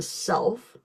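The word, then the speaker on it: CELF: So this is where you would pull in the clinical evaluation of language fundamentals otherwise known as the self which is spelled c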